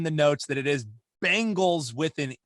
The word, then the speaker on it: Bengals: supposed to be pronounced bengals like some guy named ben you gotta know like ben not bang it's not bang like